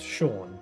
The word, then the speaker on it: Seam: The name Seam pronounced Sha. Oh, all right. Oh, Sha with an M. So, Sha.